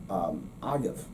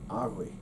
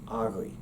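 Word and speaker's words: agaibh: Well, for the possessive term for the plural you, they use agav. Well, agav is not really a correct pronunciation.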